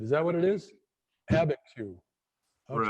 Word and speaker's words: Abiquiu: Abiquiu. Okay. Right. I can write it out, but I can't know how to pronounce it.